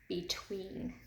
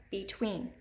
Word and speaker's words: between: after that II okay between between now if we're listening for that long II be tween that accented II is in the second syllable in this word so